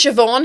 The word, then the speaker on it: Siobhan: Siobhan has a BH in it. Yeah. And it Yes. sounds like a V.